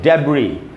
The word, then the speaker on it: debris: एंड में जो एस है वो साइलेंट होगा, इसका उच्चारण नहीं होगा, जिसको हमको पढ़ना चाहिए डेब्री, डेब्री।